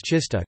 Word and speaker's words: czysta: Polish words czysta, clean, F, pronounced with an affricate, T, and trzysta, 300, pronounced with a sequence, T, are an example of a minimal pair based on such a contrast.